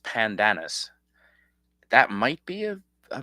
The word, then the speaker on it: Pandanus: It It's spelled panda anus, but pronounced pandanis.